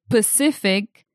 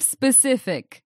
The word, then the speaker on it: specific: For example, some people say Pacific instead of specific.